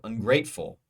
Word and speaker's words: ungrateful: And up we have ungrateful. Ignorant, I. Flexible, fle. Ungrateful, gray. Second syllable is gray, ungrateful. That is stressed.